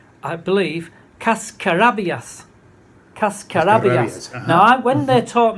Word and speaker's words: cascarabias: The reason is I was saying, cascarabias. What the hell are you talking about? Yeah. And then they said, oh, cascarabias. Is that right, Gordon? Have I got that correct? Cascarabias. When you say it wrong... Yeah. The push is so important, much more important than in English.